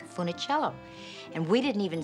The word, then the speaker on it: Funicello: And he said, first of all, young lady, you are mispronouncing it. It is not Funicello, it's Funicello.